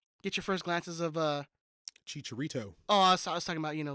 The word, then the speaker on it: Chicharito: be interested in meeting Chicharito. That's how they pronounce it. So that's how I'm going to pronounce it.